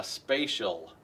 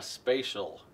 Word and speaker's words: spatial: They call that a spatial cut. Spelled weird. Should be spelled like outer space or you're in this space. But they put a T in there because it's English. It has to be hard.